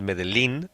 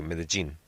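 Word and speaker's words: Medellín: I'm called Medellin because they didn't know how to pronounce it. They said Medellin, and that's why I copied this name, and now they say it properly, Medellin.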